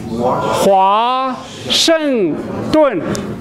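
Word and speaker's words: 华盛顿: Hua Sheng Dun.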